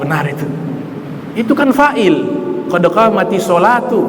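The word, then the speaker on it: قد قامت الصلاة: Qad qamatis sholati, qad qamatis sholati. Wah, salah itu. Bacanya tidak benar itu. Itu kan fa'il. Qad qamatis sholatu, bukan sholati.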